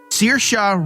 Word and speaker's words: Saoirse: was actually proud Saoirse Ronan Saoirse Ronan that was that shot Saoirse Ronan si oh I thought you how did you pronounce it sir or C or some like that I will be fair with you on this one because that's how I would try to pronounce it as well however is pronounced Saoirse Ronan all right next